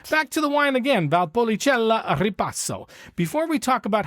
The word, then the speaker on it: Valpolicella: I or an E, the C is pronounced ch like in Czech or cheese. So the word is valpolichella, not valpola.